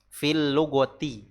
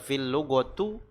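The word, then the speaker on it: في اللغة: Fil lugati. Ya. Bukan dibaca fil lugotu atau fil lugota.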